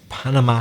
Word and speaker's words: Panama: pronunciation of English and we stress the first syllable we say Panama in Spanish you stressed the last syllable but in emissions panama